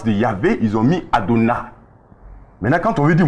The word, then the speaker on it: Adonai: Donc ils ont pris le mot Adonai. Quand vous prenez la première syllabe, il y a Aleph et puis il y a Hataf Patah.